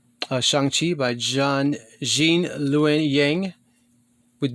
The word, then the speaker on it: Shang-Chi: And then I don't know if I showed this in my last comic book haul, but this is Shang-Chi or Shang-Chi. Shang-Chi. Kevin Feige pronounced it Shang-Chi.